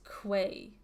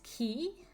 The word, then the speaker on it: Key: I always pronounce this as Quay. It's Key? Cat's Eye Key.